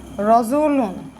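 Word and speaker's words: رَجُلٌ: এখানে আমরা যখন উচ্চারণ করি তখন কিন্তু আমরা উচ্চারণ করি রজুলুন।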